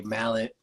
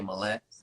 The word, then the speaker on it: Mallett: I mean, I could give the short the short thing on that is like my dad and my granddad say Mallet, my grandma and my mom say Mallette.